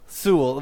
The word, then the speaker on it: Zool: Zool with a Z, like. Oh, Z. I thought you said C.